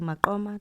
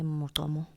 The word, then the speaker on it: Maqoma: So instead of saying Maqoma, they say Motomo, meaning that the people